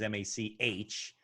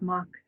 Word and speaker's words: Mach: and i see it it's mac is m-a-c-h not m-a-c-k but it's pronounced mac so they probably wouldn't find you with mac yeah and i get all the time everybody thinks it's mock so yeah okay well